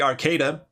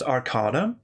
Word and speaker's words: Arcada: the spacecraft video because people kept calling it the arcata which honestly sounds cooler as does iron instead of ernon but it is pronounced arcada uh remember the days